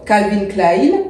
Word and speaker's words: Calvin Klein: longue je porte une robe Calvin Klein je le prononce à l'allemande je ne sais pas